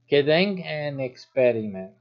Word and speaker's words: Gedankenexperiment: Well, in English, you would tend to hit that K strongly. In this pronunciation here, they seem to have a soft K. It's there. It just finishes the ink.